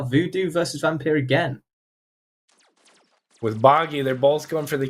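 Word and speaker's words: Boggi: to pronounce this name I'm just going to say bogy and time corrected it must be bogy b o GGI bogy right clearly this interesting really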